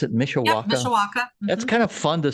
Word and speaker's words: Mishawaka: Is that how you pronounce it? Mishawaka? Yep, Mishawaka.